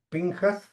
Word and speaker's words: Pinjas: En inglés se escribe pinjas, este, perdón, pinchas porque es una transliteración al inglés. En español se dice pinjas.